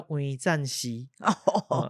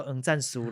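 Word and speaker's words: 黄赞煦: 嘛，所以伊正式念法做黄赞煦。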